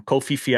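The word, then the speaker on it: Koh Phi Phi: i loved it um kofi fee i think it's pronounced if i'm correct um i honestly half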